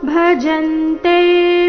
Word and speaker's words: ಭಜಂತೆ: ಧ ಮಹಾಪ್ರಾಣ ದೀರ್ಘ ಚತುರ್ವಿಧಾ ಭಜಂತೆ ಮಾಜಂತೆ ಜ ಮೇಲೆ ಆ ಘಾತ ಮಂತರ ಬಂದಿರುವ ಅನುಸ್ವಾರದ ಉಚ್ಚಾರಣೆ ಚ ವರ್ಗದ ಅನುನಾಸಿಕದ ರೀತಿ ಬರಬೇಕು ಭಜಂತೆ ಮಂ ಜನಾ ಸುಕೃತಿ ಜನಾ